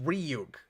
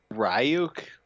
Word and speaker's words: Ryuk: but he's Yeah Austin it's pronounced ruk God say it right ryuk stop it what's with